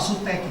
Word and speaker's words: Suteki: Saya selama ini terus terang Prof, itu bertanya-tanya, ini yang bacanya yang benar itu Suteki apa Suteki?